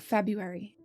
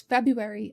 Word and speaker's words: February: Last linguistic note about February commonly we don't pronounce February as it is spelled but instead we ignore the first R and Skip right write